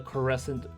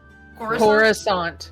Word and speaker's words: Coruscant: At the bottom of the case, you do see a plate that says the Coruscant Cutlass.